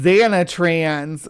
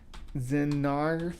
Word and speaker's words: Xenarthrans: Xanatrans, Xenarthrans. It's Xenarthrans. Spelled like that.